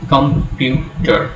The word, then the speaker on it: computer: Computer. So there are three sounds. There are three syllables. Where do you put the stress? You put it on you. We say computer, not computer, certainly not computer.